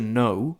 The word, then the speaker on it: know: The silent letter that you might find in so many words, I don't know, the K at the start of to know and knowledge and things like